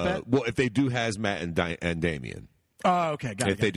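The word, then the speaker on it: Khazmat: Why the fuck would you put a silent K in front of someone? For what? For what fucking earthly reason would it be K-H-A-Z-M-A-T and you pronounce it Hazmat?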